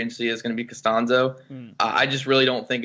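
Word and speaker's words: Castonzo: gonna hit the free agency market Anthony castie Costanzo is my pronouncing that right is nostalgia names tricked me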